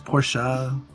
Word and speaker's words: Porsche: being here stands out I correct anyone who says it it's porschea you even got to do it with it's por you syllables so what is violet